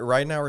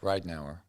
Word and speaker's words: Ridenour: Ridenour is how you pronounce it, right? Yeah, that's correct. Ridenour.